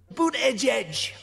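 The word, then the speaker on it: Buttigieg: So here's the official pronunciation. Boot edge.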